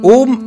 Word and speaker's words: ओम: तरीका ये है कि आप अ का उच्चारण करेंगे और अपने मुंह को बंद करते जाएंगे। देखिए, तो मैंने उ और म का उच्चारण नहीं किया। ओके, तो ये करेक्ट तरीका है।